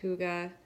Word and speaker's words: hygge: and it is pronounced hygge it's a Danish word it is the Danish